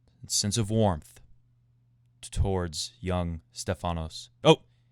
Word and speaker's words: Stefanos: of warmth towards young stefanos oh stay phonos stay finals accent on the E don't forget for the Greek listeners stay a finals Stefano's okay I don't